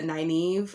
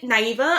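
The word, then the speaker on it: Nynaeve: feeling her at all she mispronounced her name she was like is it naiva i'm like all right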